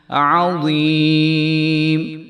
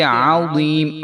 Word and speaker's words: عظیم: वफ़ी ज़ालिकुम बलाउम मिर रब्बिकुम अज़ीम। आज़ीम, तो इसको अजीम नहीं पढ़ेंगे अजीम, बल्कि आज़ीम। आइन की आवाज़ पूरी आनी चाहिए और ग़ा की आवाज़ जो है वो पूरी आनी चाहिए।